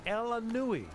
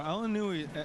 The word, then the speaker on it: El Aynaoui: Well, El Aynaoui El Aynaoui, I believe, is pronunciation.